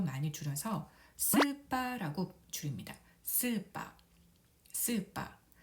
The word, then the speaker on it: スーパー: 스파, 스파. 이 가운데 하이픈이 보이는데요. 가타카나에서 장음은 이렇게 하이픈으로 표시합니다. 그래서 스를 두 박자, 빠를 두 박자로 길게 발음하면 되겠습니다. 스파, 스파, 스파, 슈퍼마켓이 되겠습니다.